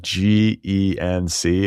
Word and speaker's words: Genc: Like Genc. I learned how to pronounce his name.